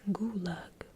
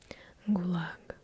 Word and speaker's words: gulag: say this word is gulag however the proper pronunciation is gulag if you are in trouble choosing the right syllable to put an emphasis on you use put it